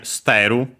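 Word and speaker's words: 捨てる: Uh notice the u of the su barely heard if at all between a voiced consonants.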